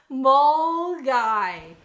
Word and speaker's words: Milngavie: I'm going to pretend the N doesn't exist, and we're going to say Milgivie. I can't do the Scottish accent. Okay, Milgivie. Mulgai. Mulgai. Incredible.